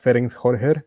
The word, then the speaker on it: Ferenc Hörcher: University Professor Ferenc Hörcher. I hope I pronounced that right.